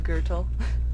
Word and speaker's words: Grutle: How would you pronounce my name? Grutle.